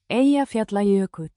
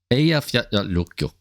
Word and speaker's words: Eyjafjallajökull: Let's go through the pronunciation because you look at that word and it's like, whoa. Eyjafjallajökull. Eyjafjallajökull. Eyjafjallajökull. That's fast. Eyjafjallajökull. Eyjafjallajökull. Did you get that?